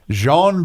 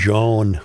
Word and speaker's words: Joan: Jean. Yes. Yes. Jean Jean. My name is Joan.